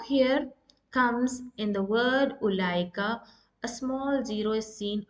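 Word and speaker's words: أولئك: That means you need to eliminate waw, the letter waw. Ulaika, as if there is no waw in between lam and hamza. So it's pronounced as ulaika. As you can see, there is no prolonging of ulaika. It's ulaika. You need to eliminate the sound of waw.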